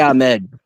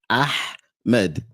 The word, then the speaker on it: Ahmed: Ahmed. Ahmed. See, you're doing the. That's a different letter. I feel like that's the thing. That's a different letter. So Ahmed is ha. You're saying ha.